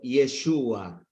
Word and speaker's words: Yeshua: aquel Jesús Cómo se dice Josué en hebreo yeshua Cómo se traduce yeshua al griego y Jesús